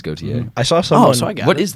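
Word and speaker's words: Gauthier: pronounce his last name how do you pronounce it go it is goate I saw someone what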